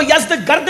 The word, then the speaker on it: یزدگرد: اس کا بیٹا تھا جس کا نام تھا یزدجرد، اس کو یزدگرد بھی کہتے ہیں ایرانی لب و لہجے میں، عربی میں یزدجرد کہتے ہیں.